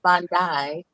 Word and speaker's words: Bondi: As far as Miss Bondi, rhymes with I Hyundai.